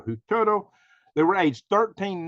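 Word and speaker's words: Huitoto: can pronounce this the who Toto children it's spelled h-u-i-t-o-t or who Turtle they were age 13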